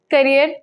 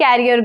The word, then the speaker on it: career: is the correctness in carrier no the correct pronunciation is this is my career goal not career goal career goal right next tomato t-o-m-a-t-o what